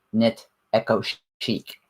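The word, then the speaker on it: Knit Eco Chic: That is the proper pronunciation. Knit Echo Chic.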